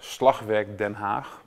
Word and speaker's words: Slagwerk Den Haag: I'm ferritin so I'm the artistic leader of Slovak than half pronounced in Dutch to actually to start right away